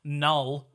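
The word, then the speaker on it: Knull: So I don't know if he's Canal, or I'm going to assume the K is silent like on a knife.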